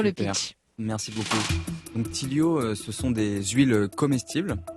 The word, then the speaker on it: Tilyo: Tilio, ça s'écrit Tilyo.